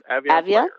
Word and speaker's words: Avion: So we're here to talk about the Avion or Avion? How do you say that? Avion. That's how I say it, but so Avion Players, and so I think we'll start with simply, who are they?